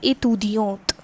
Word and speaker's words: étudiante: Here E is not used and here E is used, and next difference is the difference in the pronunciation. This is étudiant and this is étudiante.